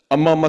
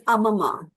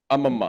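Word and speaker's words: അമ്മമ്മ: Amma Amma signed. Is it am I pronouncing it wrong? It's Amma Amma, right? Amma, yeah. Or It's is it Amama. Amma? It's Amama. Amamma. Amama is grandmother in Malayalam.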